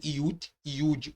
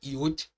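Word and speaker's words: י: O iod, também conhecido como iud ou iod, embora tenha um som de I, não é uma vogal.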